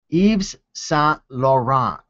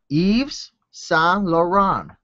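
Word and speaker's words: Yves Saint Laurent: Okay, so Bonafide is trying to teach me how to pronounce it. Eves s Lauron. Does that sound a little better? Eves San Lauron.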